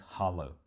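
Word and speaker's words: hallo: in that smaller space the official language is Dutch and hello is spoken as Hollow the 993 made a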